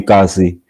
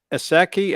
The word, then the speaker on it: Ekasi: Thanks to Aubrey, Sasa, Bitcoin, and is it Aseki? How do you pronounce that? Aseki team? How do you pronounce that? That's Bitcoin Ekasi.